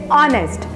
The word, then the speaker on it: honest: is honest it doesn't pronounce like honest age is silent in this word so we'll say honest and the meaning of the word honest is